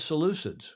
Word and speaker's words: Seleucids: I had to go listen to how to pronounce it. Seleucids? It is Seleucids.